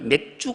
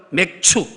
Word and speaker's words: 맥추: 우리 잠금이 기도하실 때 살짝 발음이 맥주 감사절 이런 단어가 자꾸 들려서 살짝 놀랐는데 몇주 감사 전란이 맥주 마시는 날이 아니라 마 내 추 뭐라고요 맥추 배추 맥추 감사 찌질이 보리의 첫